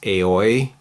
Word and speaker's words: Aoi: This girl, her name is Akane, and then this girl is, I think it's Aoi is the proper way to pronounce it, and they have these suits,